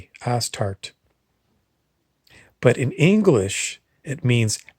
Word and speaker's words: Astarte: It's a funny name because that's the way it's pronounced. Astarte, Astarte.